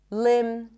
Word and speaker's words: limb: When there is MB, especially at the end of words, the B is not pronounced. So in words like limb, climb, no B, bomb,